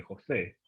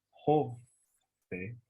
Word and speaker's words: José: Claro, por ejemplo, tu nombre, José, acento en la E. Pero si yo digo José, acento en la O, puede significar una cosa totalmente diferente.